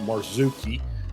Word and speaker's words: Marzuki: That's how you say his name. Marzuki uh for for those other uh racing services that uh can't can't get it can't get it right.